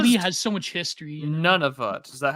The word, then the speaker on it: Nunavut: Nunavut. Is that how you pronounce that? Yeah, Nunavut.